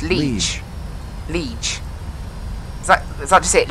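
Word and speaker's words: Liège: How do you pronounce it? There's a lot of, like... Here you go. Liege. Is it? It's Liege.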